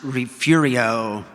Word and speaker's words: Refugio: Now, it's a test of a true Texan if you pronounce it Refugio.